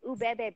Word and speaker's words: Ubebe: It's Ubebe Beads.